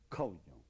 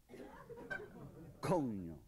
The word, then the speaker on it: coño: And it's pronounced coño. Coño.